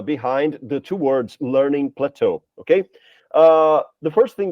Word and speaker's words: Plato: it's not Plato right it's not Plato it's Plateau right and Plateau as you can notice by The Sound by the pronunciation of this word uh it comes from French it's a fren French word that was assimilated that was imported and uh it became official in English language right so it's a